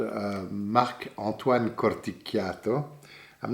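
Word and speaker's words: Corticchiato: called uh mac antoine corticato i'm not pronouncing it right because he's from corsica and i'm italian and so in corsica they don't pronounce it the italian way they would say corticato but that's how it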